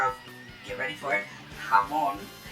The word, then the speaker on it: Hamon: It introduces the power of, get ready for it, Hamon, not Hamon, like, H-A-M-O-N, or whatever it's spelled. J-A-M-O-N, like, Spanish for ham. Yeah, that's right, it's ham in Spanish, Hamon.